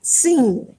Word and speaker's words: Sin: So if the dot is in the back of the sheen, then we pronounce it just with the S sound. S, all right, seen. It is a seen. If we have the sheen in the front the dot in front of the sheen, then it's going to be pronounced with the sh sound, as in shaitan or Shaul.